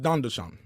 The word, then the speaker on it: Tandan: good God man cuz it was called Dandan but it was tandan it was it was weird spelled with a t yeah it was spelled with a t but it was pronounced Dandan M but we just